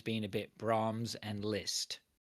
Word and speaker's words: Liszt: a bit Brahms and Liszt. Is that pronounced right, that Liszt? Lists rhymes with pissed.